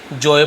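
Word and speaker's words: Joe: बोलो चाहे जो बोलो बट जो में केवल जो ओ रहेगा जे ओ रहेगा तो ज्यादा अच्छा है तो हम इसे जो ही पढ़ते हैं ठीक है जोय नहीं पढ के जो पढ़ेंगे तो जोय ने क्या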